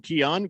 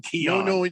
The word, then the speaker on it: Keon: spells his name wrong kion go ahead k-e-o-n yeah like neon but with a k and that's it don't